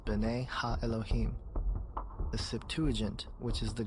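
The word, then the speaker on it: בני האלהים: of God mentioned here in the Hebrew is pronounced Bena Elohim the Septuagint which is the Greek translation of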